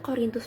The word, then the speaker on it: Korintus: Korintus bacanya K O R I N T U S.